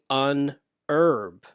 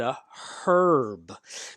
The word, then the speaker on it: herb: wife speaks british english in america we pronounce this word herb we don't pronounce the h so we say un herb my wife however in